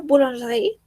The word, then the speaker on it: boulangerie: Entonces, cada vez que tengamos una E que no esté acentuada, esa E no se pronuncia en la mayoría de los casos.